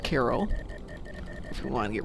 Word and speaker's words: Cairo: And then again, I'm from Illinois, where the name of the place, which in Egypt is pronounced Cairo, is pronounced Cairo. If we want to get really fancy, Cairo.